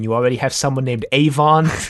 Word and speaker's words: Avon: Avon is 2 syllables and Avalon is 3.